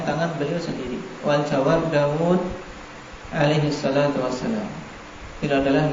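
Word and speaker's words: داود: Mudahnya memang demikian Arab menuliskannya dan membacanya dengan mat. Daud.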